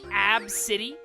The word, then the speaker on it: ABCDE: made fun of because their name was ABCDE, pronounced Ab City?